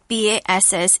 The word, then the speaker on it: bass: a difference in meaning in the way you pronounce it so a bass Vass is the fish cable when you see bass